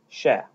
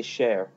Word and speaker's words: cher: Sha. the c h e r people want to say share but it's not it's sha the that's the the